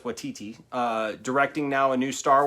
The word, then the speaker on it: Waititi: I know it's Waititi.